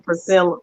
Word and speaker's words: Priscilla: I want to go back to Priscilla. That's how you pronounce her name.